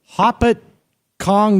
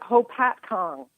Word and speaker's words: Hopatcong: I'm doing great and is it poppet Kong New Jersey how do you pronounce it we pronounce it Hopatcong hopatcong all I know